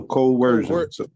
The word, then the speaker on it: coercion: Put a huh if you put a W in it, it'll work. So coercion.